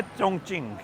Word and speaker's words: Chongqing: के अंदर क्यू की जो प्रोनाउंस है वो ची से होती है तो बेसिकली इसकी स्पेलिंग लिखी जाती है चौकिंग लेकिन एक्चुअल में जो सिटी का नाम है वो है चंग चिंग अब यार मैं उस